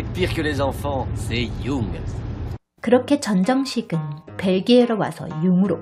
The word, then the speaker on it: Jung: Tu es sûr que ça se prononce Jung? Ce serait pas plutôt Chung ou Jung? Non, t'es pire que les enfants, c'est Jung.